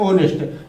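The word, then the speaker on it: honest: लेकिन अभी आप जान लीजिए कि एच यहाँ साइलेंट है, तो पढ़ना क्या है, ओनेस्ट।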